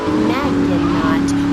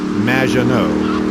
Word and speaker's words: Maginot: Magninot, welcome to the show! Thanks, Amy. However, you have mispronounced my name. It's Madge, which rhymes with badge, as in duh, and no as in more than you. Maginot.